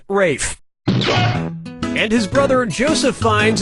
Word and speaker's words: Ralph: worked yeah ray Fiennes first name is spelled like Ralph but pronounced Rafe and his brother Joseph